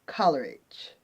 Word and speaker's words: Coleridge: Coleridge Jackson, or Coleridge. I'm going to spell it for you. It's Coleridge. And the poem states, Coleridge Jackson had nothing to fear.